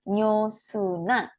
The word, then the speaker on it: 음료수나: Siwon han nyosuna. Ini bacanya ketemu real, ini realnya n ya. Bacanya huruf n.